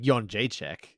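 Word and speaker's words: Jędrzejczyk: hard it's not like john jay check which is spelled in in i guess it's a polish pronunciation but it's it's spelled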